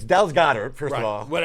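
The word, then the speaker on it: Dallas Goedert: It's Dallas Goddard, first of all.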